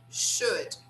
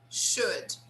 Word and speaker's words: should: Remember that this L here is not pronounced, so we say should, should, okay, good.